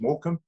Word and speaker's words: Morecambe: It's like spelled that way, but it's pronounced Morecambe.